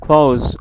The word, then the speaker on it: clothes: So طبعا سمعتوا هنا close, okay, close guys or close. Professional clothes, it's wrong, totally wrong. Wrong pronunciation, okay. TH بعدها S أو ES, فبنقول close or close. زي month and months, okay.